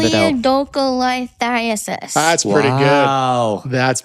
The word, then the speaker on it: choledocholithiasis: Choledocholithiasis. That's pretty Wow. good. That's pretty Great good.